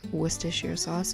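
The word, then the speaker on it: Worcestershire sauce: Then I did two tablespoons of organic ketchup and four tablespoons of organic wist sauce. And yes, that's how you're supposed to pronounce it. I'm half English.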